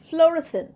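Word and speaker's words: fluorescent: Next comes F এল ইউ ও আর ই এস সি ই এন টি ফ্লোরেসেন্ট। এখানেও সি উচ্চারণ হবে না।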